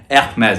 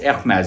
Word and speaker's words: Hermès: Hermes. I keep saying the wrong. It's Hermes, but how many times are we going to pronounce it the French way?